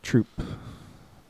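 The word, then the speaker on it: troupe: Troop. Trope? Troop? It's pronounced troop.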